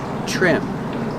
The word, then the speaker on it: trim: to trim the bushes remember trim with TR makes the CH sound like chicken trim they need to trim